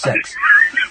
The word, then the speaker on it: CeX: It's pronounced sex, and it's pronounced sex.